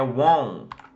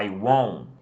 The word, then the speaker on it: won't: A forma contracta do will not é won't. Tá? Quase não se pronuncia o T, ou às vezes, na verdade, nem se pronuncia o T direito. Você fala I won't, I won't.